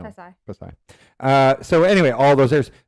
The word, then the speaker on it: Pasay: How do you say it? Yeah. Passy? No. Pasay.